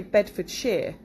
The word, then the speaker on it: Bedfordshire: of the pronunciation so for example Bedfordshire we don't say Shire even though that's how you would pronounce it phonetically Bedfordshire we just say Bedfordshire Berkshire Bristol Buckinghamshire Cambridgeshire